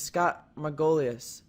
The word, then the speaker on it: Scott Margolius: His name is Scott Margolius. Did I pronounce that correct?